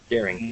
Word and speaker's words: Dering: And today I am with Peter Derling. Is that how you pronounce it? Daring. Yep.